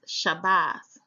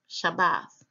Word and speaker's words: Shabbat: It is found in Strong's H7676 and pronounced there as Shabbath, Shabbath. It is written in the consonantal text as Shin Bet Tav.